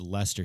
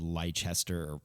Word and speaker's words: Leicester: in england that's also it's leicester city and it's spelled the same way and i thought it was lychester because english people pronounce